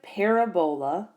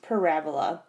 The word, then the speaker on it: parabola: is called a parabola so it's spelled and it looks like parabola but it's really pronounced parabola and parabola is this